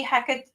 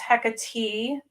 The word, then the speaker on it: Hecate: I mean, it could be Hecate or Hecate, but Mhm. from what I understand, it's Hecate, and that's how the Greeks pronounced it, and that's where she's from.